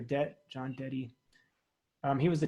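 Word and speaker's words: Dette: I think it's pronounced his name Deddy or Det.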